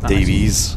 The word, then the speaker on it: Davies: Honestly, my head today I've got to say about I love how you pronounce my surname correctly. Yeah, I know. That's lovely. There you go. Dies.